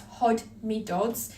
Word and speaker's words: Hodmedod's: That's Hodmedod's, and you spell it exactly how you say it, Hodmedod's.